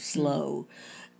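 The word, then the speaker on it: Slough: slow house house yeah it's spelled s-l-o-u-g-h but i think it's pronounced sort of slow uh and it it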